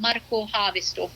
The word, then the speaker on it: Markku Haavisto: So he was from Finland originally, but Markku Haavisto, that's how you would say his name in Finnish.